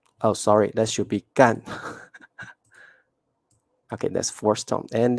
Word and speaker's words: 干: the second one oh sorry that should be gun okay that's four stones and that is the